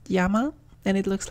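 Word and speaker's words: 山: It's pronounced yama and it looks like a mountain range.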